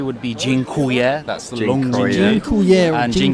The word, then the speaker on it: dziękuję: Thank you, let's say, would be dziękuję.